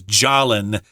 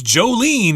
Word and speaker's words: Jolin: saw her English name I thought it was Jalin but later was corrected no it's Jolene you can't say Jolin but that's how it's spelled it looks like Jolin but no uh she pronounces it differently and this happens a